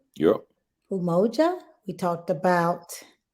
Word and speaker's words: Umoja: about four of them right we talked about Emoji umoja did I say it right yeah umoja we talked about not Koji chocolate self-determination first